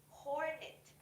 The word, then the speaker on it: hornet: And then, for the second word, you have to pronounce the sound, the H sound. It's pronounced as hornet. Hornet.